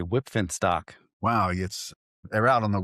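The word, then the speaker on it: Wipf and Stock: Recently published by, and I can never pronounce this publisher's name, Whipfenstock. Whipfenstock? Yeah, with a little F at the end of that P. Whipfenstock.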